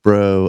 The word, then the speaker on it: Braud: it's uh you know it's Cajun So it's b r a UD D is the way that it's spelled but it's pronounced BR it's like b r e a ux uh is is I